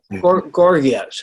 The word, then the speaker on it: Gorgias: Gorgias or however you pronounce his name? Gorgias.